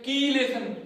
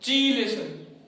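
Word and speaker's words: chelation: तो मैं आपको बता देता हूं, इसका सही प्रोनाउंसिएशन होता है कीलेशन, नॉट चीलेशन।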